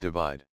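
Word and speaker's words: ÷: cover design of his forthcoming album entitled / pronounced divide which was released on 3 March 2017 .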